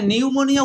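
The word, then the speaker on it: pneumonia: দেখেন নিউমোনিয়া এখানে নিউমোনিয়া উচ্চারণের ক্ষেত্রে পি এর কোন ভূমিকাই নাই অথচ পি লাগবে বারণ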